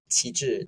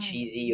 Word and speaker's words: Qi Zhi: People couldn't pronounce Qi Zhi. They always call me Mm. cheesy or, and so that's how the name came about.